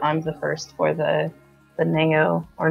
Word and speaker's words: Nao: It's kind of actually exciting that I'm the first for the Neo, or Now. I just pronounce it Neo, but actually, it's kind of exciting.